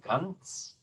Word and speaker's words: ganz: TS is usually represented by a Z sound, this spelling of the Z, so ganz, ganz, ganz. Yeah, so that is a Z spelling that is usually a TS pronunciation.